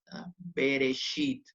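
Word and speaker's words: בְּרֵאשִׁית: por un lleva entonces dice la teoría dice que suena como una muy cortita cuando inicia una sílaba o cuando está debajo de la primera consonante de una palabra en este caso está debajo de la primera consonante está por eso tiene que sonar bereshit a veces y tiene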